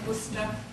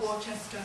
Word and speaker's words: Worcester: and welcome to Worcester that's how you pronounce it Worcester not warchester um I'm and